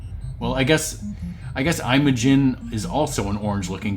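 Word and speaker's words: Imajin: Um but in this game, Mario is instead I imagin or I imagin. It's spelled I M A J I N. I'm a Jin.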